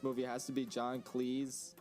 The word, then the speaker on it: Cleese: performance in this movie has to be john cleese cheese you said it right the first time john cleese pronounced that before i record this no no